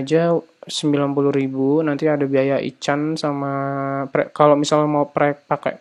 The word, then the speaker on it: ICANN: Bacanya ICANN ya enak.